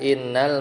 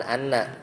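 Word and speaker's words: إنّ: Jadi lam ibtida itu bisa masuk b'da innal maksurah sebelum eh setelah inna yang dibacanya inna. Jadi hamzahnya kasrah bukan anna.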